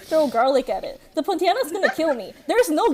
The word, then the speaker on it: Pontianak: This is a Pontianak.